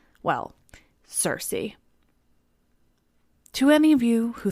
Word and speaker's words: Circe: Now again, I must remind you that technically her name is pronounced Circe, which is quite beautiful, and I almost wish